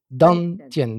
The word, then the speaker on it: Dantian: Dantian, D-A-N, plus loin T-I-E-N. Pas dentier, dentien.